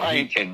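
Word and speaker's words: Byington: I I probably butchered the pronunciation of his last name, but Bington. Mark Bington.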